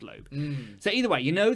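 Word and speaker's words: Loab: in a video so I think it's pronounced low so either way you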